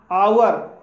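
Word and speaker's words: hour: आवर, आवर mean आवर में भी H silent है इसलिए इसे आवर बोला जाएगा और आवर मीन्स होता है घंटा।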